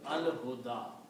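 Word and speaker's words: الهدى: one, so it becomes al huda. Okay. And this is will be written like that, al huda. Can be written like that. This ya is not pronounced, the alif is pronounced.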